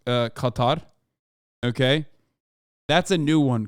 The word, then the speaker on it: Qatar: my favorite things is like listening to everybody pronounce uh Qatar okay that's a new one Couture I I had not heard that one before